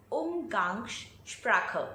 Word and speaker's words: Umgangssprache: So it's pronounced as Umgangssprache.